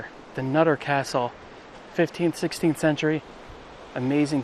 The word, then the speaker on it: Dunnottar: Stopped at I believe it's pronounced Dutter. D the Nutter Castle.